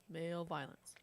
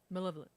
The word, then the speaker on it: malevolence: League of Male Violence. Malevolence. Oh. Male Male violence? It's funny because that's how I pronounce it every time I read it.